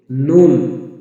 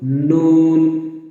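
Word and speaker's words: نون: করতে হবে এরপর আসুন নুন জিহ্বার আগার উপরে দাঁতের মা গোলা থেকে একটু উপরে নুন নুন নুন এভাবে উচ্চারণ করবেন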